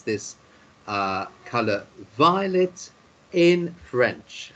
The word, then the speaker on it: violet: Because you know in French often you don't pronounce the last letter, especially if it's an S or a T, and also sometimes the letter R isn't pronounced at the end.